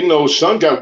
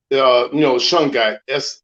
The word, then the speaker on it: Shungite: Now shungite water is pretty good too, because that shungite,